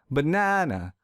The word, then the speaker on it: banana: So to fix this, I will stress the second syllable real hard. Banana, banana.